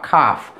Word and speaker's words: calf: Nah, jang L, Tomadaki out of a James Blanton, like the crowd A O U, doji, pita, calf, could, cold, or some too.